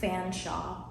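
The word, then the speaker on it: Featherstonehaugh: Um, she said it's pronounced Fanshaw. You needed all those letters for Fanshaw.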